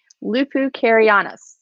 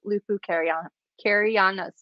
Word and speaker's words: Lupu Carianus: Lupu Carianus. Yes, that is correct. I actually asked him to voice record his pronunciation so I didn't butcher it. So I'm pretty sure that is right. Nick Lupu Carianus.